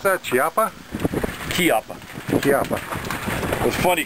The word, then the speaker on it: Chiappa: He called it a Chiappa. He didn't pronounce it Chiappa.